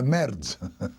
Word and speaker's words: merde: Ah, oh, de la merde. How do you spell that?